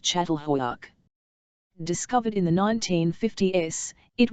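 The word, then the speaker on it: Çatalhöyük: Particularly important, it seemed, was a place called Catalhuk, pronounced Chattal Hoyak, discovered in the 1950s, it was one of the oldest villages in the world ever unearthed, maybe 9,000 years old.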